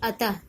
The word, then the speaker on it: अतः: जब हम लोग उच्चारण करेंगे अतः, तो उसमें ह की ध्वनि लास्ट में सुनाई देती है ना।